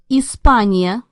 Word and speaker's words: Испания: Испания. Notice there's that "-ya" ending, Hispania.